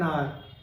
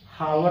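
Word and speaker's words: hour: Next देखिए, I have been waiting for एन आवर। अभी हावर तो है नहीं, इसका जो रियल उच्चारण क्या है, आवर, ठीक है।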